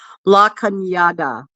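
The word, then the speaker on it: La Cañada: It's in a town called La Kyada and Kyatta is spelled like Canada.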